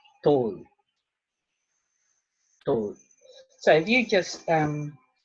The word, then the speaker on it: tō: So, T-A-U, tāu, T-O-U, tō. So the emphasis on the vowels is quite important.